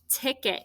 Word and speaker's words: ticket: your spelling options section it's actually an unexpected sound here right it's not i t ticket even though we say it this is the schwa it's e t these syllables are both